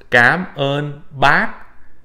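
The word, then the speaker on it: cảm ơn bác: use this okay and it's it would be pronounced gab on back so you recall in a previous video i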